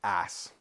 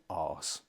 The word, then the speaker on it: arse: Now, across the pond, Americans say ass. We say arse. It sounds harder, doesn't it?